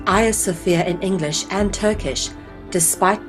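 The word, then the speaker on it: Hagia Sophia: a mosque for some time its name is pronounced aya sophia in english and turkish despite being spelled differently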